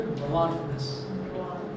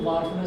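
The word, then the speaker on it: dwarfness: अब सुनिए, ये जो capital T इज for tallness and small T इज फॉर ड्वार्फनेस। सर डी ले लेते हैं। एक्चुअली इसको वार्फनेस बोलते हैं, डी जो है वो साइलेंट होता है।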